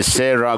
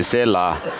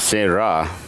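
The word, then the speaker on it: Sera: So usually the Chinese friends are not able to pronounce their ra correctly. So when they are told, when they say se ra gompa, they say se la instead of se ra.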